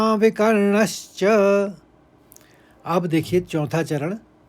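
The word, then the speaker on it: विकर्णश्च: तीसरे चरण को देखिए यहां पर अ के ऊपर आघात है और व के ऊपर आघात है और फिर दूसरे शब्द में ण के ऊपर आघात है तो इसे इस तरह से पढ़ेंगे तीसरे चरण को अश्वत्थामा विकर्ण च अब देखिए चौथा चरण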